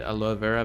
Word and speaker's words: aloe vera: And I pronounce it aloe vera because that's kind of like the pronunciation in my mother tongue Spanish.